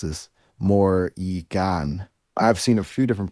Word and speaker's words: Morrigan: I'd pronounce it Morrigan with the emphasis on the first syllable.